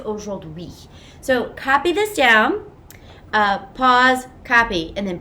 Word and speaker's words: de: you know how we do it right at the top loop atta and then the important part here you're going to write d it's not pronounced day or d it's do and it means of